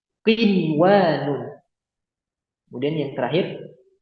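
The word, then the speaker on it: قنوان: Bunyanun, bunyanun, qinwanun. Kemudian yang terakhir sinwanun. Nah, cara bacanya gimana?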